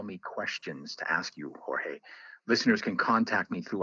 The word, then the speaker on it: Jorge: questions to ask you Jorge listeners can contact me through our website or hey Valdez PhD calm or is spelled J o RG e the J is silent in Spanish and also listeners can